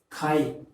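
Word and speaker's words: கை: So you have to pronounce this as kai. Kai tattu. So kai tattu means clapping in English.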